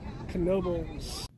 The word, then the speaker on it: Knoebels: take a look at kenobo and yes you do pronounce the k in knobles i learned that the